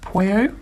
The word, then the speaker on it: pueo: I think it's pronounced Pueo, perhaps.